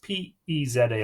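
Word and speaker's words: Pisear: is EA or visit PES are pronounced P easy a or bizarre king of Persia it is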